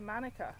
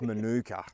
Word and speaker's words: Manuka: lecture sperm and plantations um it went from manuka to monica in a year and that's when all the